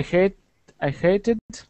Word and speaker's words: hated: Okay, if the verb ends with a T sound, the ED is pronounced as tid, an extra syllable. Hate, hated.